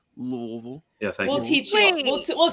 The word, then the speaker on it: Louisville: looking on a map louisville no no no it's pronounced louisville yeah thank you teaching